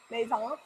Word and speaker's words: maison: The S-E-N is silent, so it's like Maison. How do you say that? Maison. You say it like you're gonna say the end, but then you don't.